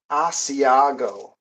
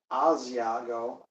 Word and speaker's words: Asiago: And I have a Asiago. Used to pronounce it with a Z, Asiago, but I guess that's not the United States pronunciation.